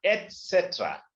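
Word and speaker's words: et cetera: मैं उसमें अभी इस बार में जो मैं कोशिश करूं उसका फुल फॉर्म लिखने का, एटसेट्रा.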